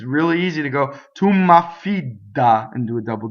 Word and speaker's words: m'affida: So tu m'affida. So notice there's a double M and there's a double F. Tu m'affida and a single D, right?